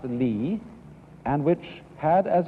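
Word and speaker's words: 理: world remember this word which is pronounced Lee and which had as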